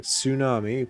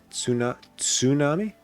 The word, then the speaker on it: tsunami: word starting with ts the t isn't silent it's like tsunami pronounced tsuna tsunami tsunami they also have